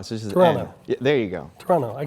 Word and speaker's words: Toronto: say Toronto though there we don't pronounce the last T so I can do that not Toronto yeah it's Toronto so just Toronto there you go Toronto